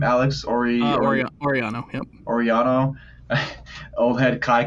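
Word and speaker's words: Orellano: Oriano, yep.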